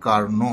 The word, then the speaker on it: Carnot: पास एक साइंटिस्ट थे कार्नो नहीं है याद रख लीजिएगा दोबारा बता रहा हूं आपको ये कार्नो है टी साइलेंट है तो कहता हैय कार्नो